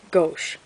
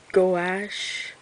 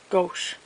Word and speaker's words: gouache: I say gauche, but I'm sure that is absolutely not the right way to say it. I think it's like actually gouache. I'm not sure.